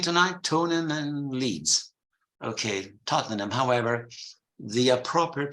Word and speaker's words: Tottenham: so then we mentioned Tottenham and in London they also said tonim tonim who's playing tonight Tony and Leeds okay Tottenham however the appropriate pronunciation